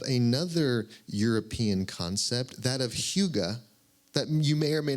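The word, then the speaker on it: hygge: me resonates of another European concept that of Huga that you may or may not be familiar with it's spelled h y g g it's a Norwegian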